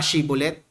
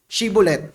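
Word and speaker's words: Shibboleth: Sabihin mo nga Shibulet. Sinabi nung taga Manases, Shibulet. Nabagis niya, nabigkas niya yung SH. Shibulet.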